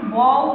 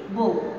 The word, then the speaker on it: বউ: একইভাবে বউ, আমরা কিন্তু বউ বলছি না, এখানটা ওকার দিয়ে বলছি, অর্থাৎ এখানে যে অকারটি ছিল সেটি কিসের মতো উচ্চারণ হয়ে গেছে, ওকারের মতো।